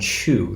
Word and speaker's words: qu: The secret ingredient for making any kind of traditional Chinese alcohol is something that's called chu. That's spelled Q-U.